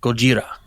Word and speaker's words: Gojira: Gojira. So you do pronounce the J. Yeah, Gojira.